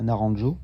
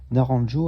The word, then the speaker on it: Naranjo: Et là, en l'occurrence, je pense à Naranjo, je le prononce à la française. Et ça va nous être bien utile aujourd'hui parce que Naranjo a notamment déposé sur cette figure cosmologique qu'est l'énéagramme les mécanismes de défense.